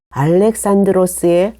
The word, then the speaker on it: 알렉산드로스: 이 사람이 바로 알렉산더, 그리스 발음으로는 알렉산드로스의 아버지입니다.